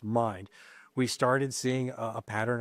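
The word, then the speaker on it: Mynd: And then when we started checking into the the corporate property management company, which is mind, which is spelled M Y N D but pronounced mind, we started seeing a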